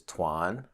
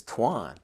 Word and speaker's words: Tuan: she's like no his name is Tuan right Miss Davis she said his name is twine it was the first time that I was like okay maybe this is how Americans say my should say my name you know so from that point on I always introduce myself as Twan Swan and that's how